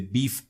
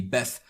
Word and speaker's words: BeEF: More specifically, we're going to be looking at client-side exploitation with the Beef framework or the BEF framework, depending on how you want to pronounce it.